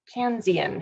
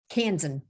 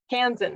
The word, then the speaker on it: Kansan: our our first and only so far can kansian how do you how do you say your kansan kansan of course all right you get to choose